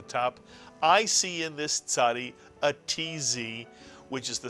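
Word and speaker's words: צ: It really is a very easy letter to pronounce once you think of the Mr. and Mrs. Katz, the ts sound, the tzadi.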